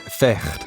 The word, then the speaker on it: vecht: In Dutch, fight is vecht, pronounced with a guttural sound.